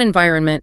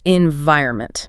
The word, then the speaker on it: environment: It is not environment, it's environment. Right. The stress is on the second syllable.